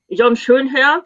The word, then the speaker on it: Schönherr: Jon Schönherr, sorry, I'm pronouncing him the German way.